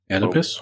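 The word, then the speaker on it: Oedipus: Edipus.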